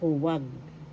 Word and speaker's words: huwag: In English, in Tagalog, huwag. Huwag. First syllable hu, second syllable wag. The second syllable has the accent.